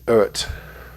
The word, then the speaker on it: Eart: folks this is the eart and i think you actually pronounce it ert just like earth without the ph w2 so this is